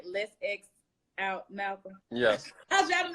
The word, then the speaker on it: LETSXOUTMALCOLM: Let's X Out Malcolm.